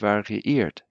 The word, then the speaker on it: variiert: Das von tiefem Weinrot bis zum zarten Hellrosa variiert. Das von tiefem Weinrot bis zum zarten Hellrosa variiert. Notice when you have two I's next to together, each one has to be pronounced separately.